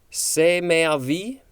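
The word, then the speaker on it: c'm'est avis: french phrase phrase hmm i will try to say this say me a v it is spelled c e m apostrophe e s t a v i s and it looks like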